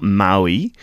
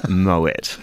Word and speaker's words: Moët: It's not Maui, it's Moët.